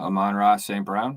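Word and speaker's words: Amon-Ra St. Brown: want to think that i'm on raw st brown numbers did we say it wrong say what did i did i say it wrong i'm on raw saint brown i apologize thanks bro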